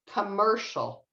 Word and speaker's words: commercial: thing here with commercial this is your stress syllable you can say it a little bit louder and a little bit longer commercial and again the cni in english creates an sh sound and that's what this weird symbol is that's an sh okay any questions about